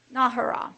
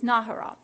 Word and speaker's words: Nahara: Nahara, that's how it is, Nahara.